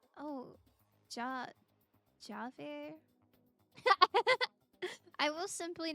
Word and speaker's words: Javert: But you do pronounce the J, please. Oh, Javert?